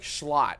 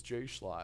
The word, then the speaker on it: Schlot: Apparently the J's silent. I was referencing Schlot in a stream a month ago or so, and people were like, this guy says Jay Schlot. And I'm like, oh, I didn't realize the J was silent.